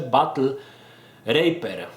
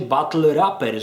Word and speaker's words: Battle Raper: grze wspominam o grze Battle raper chyba tak powinno się to czytać którą Myślałem że czyta się Battle rapper że są to walki